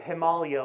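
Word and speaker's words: Himalaya: They're called the training ground of the Himalayia, which I just learned from Conrad Anker is the way to pronounce that word.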